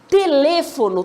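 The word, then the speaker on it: teléfono: música américa é isso telefono tem quantas sílabas gente ter lê forno nós temos quatro sílabas cool a penúltima e antepenúltima lê observe a palavra música quantas sílabas tem mu Sica a antepenúltima né o última penúltima e antepenúltima desculpa palavra América quantas sílabas nós temos a merica né Nós temos quatro sílabas última penúltima e antepenúltima Tranquilo nossa professora tá fácil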